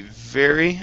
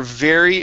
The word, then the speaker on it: very: word uh let's see very okay so they were very appreciative give me a good V sound there on very they were very